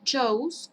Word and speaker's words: chose: Este se pronuncia chose, como si tuviera una O y una U.